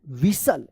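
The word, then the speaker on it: whistle: यहां तक के लिए विसल क्या पढ़ते थे इसको विसल यहां पे जो है ना टी टी जो है ना साइलेंट था तो विसल्ड पढ़ेंगे क्या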